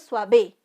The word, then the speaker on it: suave: es un diptongo soir cuál es la sílaba que suena más fuerte suave no es suave si no es suave aquí está la mayor intensidad de voz sensual muy bien entonces